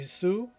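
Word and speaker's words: Hsu: She's played by Stephanie Su. And, or Shu, I believe it's Shu, that's how I pronounce it.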